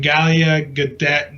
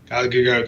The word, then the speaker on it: Gal Gadot: When Galia Gadot got casted, I can never say her name, right? Gal Gadot, thank you.